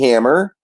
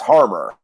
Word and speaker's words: Harmar: to he's saying my name is hammer or I'm sorry it's Harmar oh yeah armor you got it cuz I was